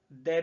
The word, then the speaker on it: the: चुका हूं कि THE इसका हम प्रोनाउंसिएशन दे भी बोलते हैं, दी भी बोलते हैं सामान्य अवस्था में, और दी हम बोलते हैं जब इसको एम्फेटिक यानी जोर देना हो।